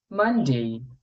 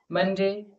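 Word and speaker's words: Monday: সময় যে ভুলগুলো করি মানডে আমরা বলি মনডে কিন্তু এটা মনডে নয় মানডে টিউসডে আমরা বলি টসডে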